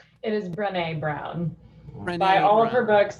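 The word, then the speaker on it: Brené Brown: well cool i think say ashley ashley it's pronounced it is brene brown buy all of her books absorb her work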